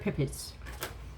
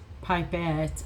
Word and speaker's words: pipettes: Pippets. Yes. I'm having fun with this. Pasture. It's pipettes.